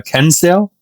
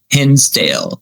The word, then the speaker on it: Hinsdale: Well, walk us through like what was um I'm going to pronounce this horribly. Uh Kenale. Kinsdale. Yeah. H I N Hinsdale.